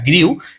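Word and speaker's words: grew: আর গ্রিউ এই শব্দটিকে তোমরা অনেকে বলো কি কি বলো জানি না, কিন্তু উচ্চারণটা হবে গ্রু। হ্যাঁ, উচ্চারণটা হবে কি হবে? গ্রু, গ্রু, গরফালা হুসু, গ্রু।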